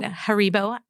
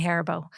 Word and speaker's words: Haribo: Haribo. I don't know. I say Haribo. Sounds like hair bow.